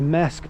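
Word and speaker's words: Marske: serving the village of mask by the Sea um sorry MK by the sea I think that's how you say it uh in Redco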